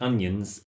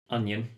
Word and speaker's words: onion: and girls at home onion even though it's spelt in a strange way o n i o n onion okay good thanks martin